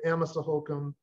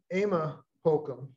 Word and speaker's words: Amasa Holcomb: emma sohokum the great-great-great-granddaughter spent an afternoon correcting me when i'd say amasa holcomb should say it was amos or emma holcomb looks like amazon to